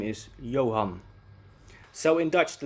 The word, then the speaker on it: Johan: his name a n the a is pronounced ah in dutch however when it's not